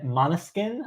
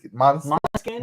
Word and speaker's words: Måneskin: Måneskin, I believe. Måneskin. That's how I've heard it pronounced.